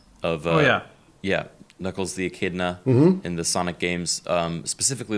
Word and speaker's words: Echidna: And then 5 hours later in the stream, when hearing it again, someone else said, that's actually the Japanese pronunciation of Echidna. Oh. It's Echidna.